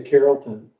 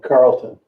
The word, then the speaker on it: Carrollton: Yeah, if you guys have never been to Carrollton, I say it wrong, Carlton.